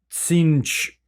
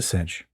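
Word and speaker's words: Tzeentch: Oh, it's probably just pronounced like, or just like, probably the rest of it is silent after the T, which I don't even know if we can do just like a TZ.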